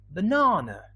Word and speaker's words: banana: The stress is in the second syllable, but the first and the last one, they are weak. So banana, banana, banana.